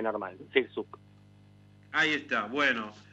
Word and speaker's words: Sirczuk: Se dice más fácil de lo que se escribe. Se dice Sirsuk.